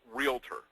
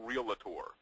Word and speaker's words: Realtor: It's realtor. There is no second A. It's not realtor.